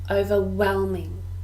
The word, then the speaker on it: overwhelming: to establish a business overwhelming four syllables and we stress the third overwhelming overwhelming this is an